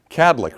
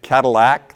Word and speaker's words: Kadlec: So my first question I always ask is, how do you say the name of our organization? Kadlec, right? 2 syllables. Have you ever heard a 3rd syllable dropped in? To make it Cadillac, like the car?